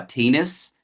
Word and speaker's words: Theunis: Shout out to my great-grandpa, Tinas. You're allowed to laugh. Tinas? Yeah. I will laugh. It rhymes with penis.